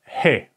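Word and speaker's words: ה: letter is pretty easy it is called he he okay he like when you say hi okay hi H the H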